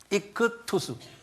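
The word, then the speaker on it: ἰχθύς: 이 헬라말로 이게 K 발음하는데요. 이크투스.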